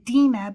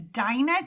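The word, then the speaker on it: Dinah: But um we are at Dena today. And I say Dena because that is the actual uh pronunciation in Hebrew.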